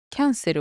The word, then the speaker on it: キャンセル: キャンセルは、ま、英語とちょっと発音違うんですけど、意味はそのままです。